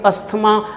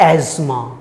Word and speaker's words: asthma: अब इसको पूरा देश, इवन डॉक्टर्स भी अस्थमा अस्थमा अस्थमा पढ़ते हैं, जबकि सही उच्चारण है एज़मा। क्या है? एज़मा। अब आप एज़मा कह के